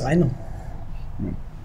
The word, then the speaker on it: Rainer: start with your names okay my name is Rhino and you are and I'm Toby okay Toby